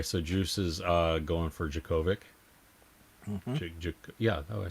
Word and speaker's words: Djokovic: Okay, so Juice is going for Djokovic.